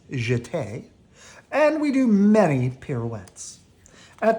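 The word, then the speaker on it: jeté: like this plea we jeete you say it like this jite we do many pirouettes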